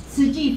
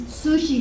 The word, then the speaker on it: Tzu Chi: So our agency name called SKUSD Foundation, and a lot of time people pronounce Sushi Foundation. And T-Z-U-C-H-I, SKUSD, serving with compassion. And then because T is very tough to pronounce it, so a lot of